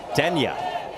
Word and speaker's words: Denya: Denis said his nickname is spelled D-E-A, but he said you will not be able to pronounce it, which we take as a challenge. Denya is what we're told is the proper pronunciation.